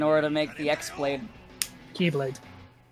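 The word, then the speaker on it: χ-blade: Keyblade. Yeah. Not an X, whatever. it's Key. Hey, listen, they're gonna spell it an X. I'm going to say it correctly.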